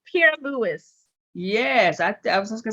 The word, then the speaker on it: Pierre-Louis: my family's trying to figure it out it's pierre lewis yes i was gonna say that's a french